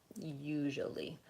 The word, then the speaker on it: usually: early in this case we tend to say you ly usually so again even though I have usual usual usual three syllables usually Americans tend to reduce that's what's happening there so I don't say usually usually I reduce it to usually and the stress is on the first syllable usually the other thing